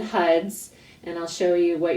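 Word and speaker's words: Har: It's spelled H-A-R, but it's HUD.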